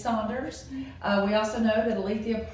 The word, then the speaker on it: Saunders: Is it Saunders or is it Sanders? Now, since we've done all this research, we know that it is Saunders.